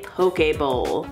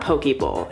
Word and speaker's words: poke bowl: how to make a poke a bowl I think that's how you say it poke a bowl it's not pokeball it can't be pokeball pokeballs have been all